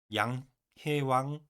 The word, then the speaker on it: 梁: 맹자 변 양 입니다 량 우리나라 말로 리을로 시작되는 량인데 두음법칙을 적용한다면 양해왕 이응으로 발음해서 양 양해왕이라고 할 수 있겠습니다 자 주석 읽겠습니다 량